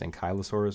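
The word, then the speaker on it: Ankylosaurus: the metal Gathering man anky I say ank I that's the right way to say it an Kai anai I guess an KY Laurus would be the right way to say it but I just call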